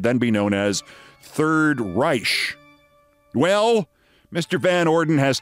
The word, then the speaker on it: Reich: Confronting economist Robert Reich, who spells his name R-E-I-C-H and pronounces it Reich, Van Orden said that